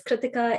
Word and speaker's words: Kritika: um my name is kritika it's pronounced like ithaca so you know that